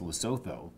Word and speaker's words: Lesotho: think Lesotho is the country that should be pronounced Lesotho in my book, but it's Lesotho anyways.